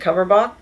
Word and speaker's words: Cumberbatch: I think Cumberbatch?